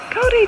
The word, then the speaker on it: kauri: Kauri tree.